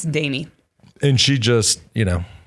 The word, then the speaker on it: Demi: it jimmy honey damie i keep want to say demi like demi lovato it is spelled d-e-m-i right um and there was just signs for all over the road but it's danny and she just you